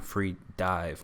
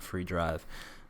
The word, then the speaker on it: Freedive: free dive movies and I've been saying it wrong this whole time free dive not free drive but those are going